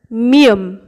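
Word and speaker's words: 미음: এরপর মিয়ম, মিয়মের বাংলা ময়ের মতো উচ্চারণ।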